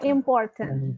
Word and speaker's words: important: Enggak, R-nya harus bunyi sedikit. Important. Ya, sedikit aja important. Important.